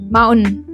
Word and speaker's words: mountain: They just say mountain. Mountain. In Indian accent, we will say mountain. But in American accent, you will say mountain. You're just dropping the T sound there.